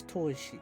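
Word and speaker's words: 砥石: If you're wondering what it's pronounced, it's toishi.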